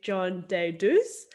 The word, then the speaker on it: John Deidouss: welcome to the fightback podcast i'm here with john de deus and i'm pronouncing that right yes yeah amazing everyone john